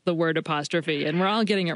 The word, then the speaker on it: apostrophe: pronounce it, which is apostrophe, and three syllables rather than four, with the emphasis on the final syllable.